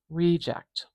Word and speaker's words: reject: the beginning of that first syllable for this one. Reject, reject. So this is a really important example of grammatical stress. Grammatical stress, and that really means that depending on where you place the stress in a word, it can change the meaning of a word and also change the part of speech, change its grammar.